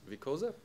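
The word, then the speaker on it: Viçosa: Philip is from Universidad Federal de Vicosa, okay, I was close. Soft C.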